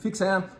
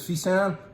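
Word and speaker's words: Fixin: no let's go to fisa that's how you say it you say fixam or fisan it's said both ways over there but this is fisan by Dome uh view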